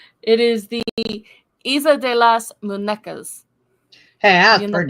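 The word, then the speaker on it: Isla de las Muñecas: say it, well, I'm going to say it's pronounced Isla de las Munesca. It I probably screwed that up, didn't I? is the Isla de las Munecas.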